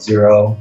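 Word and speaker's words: Xero: accounting software you know we like to use one called zero that's spelled in x x and it works really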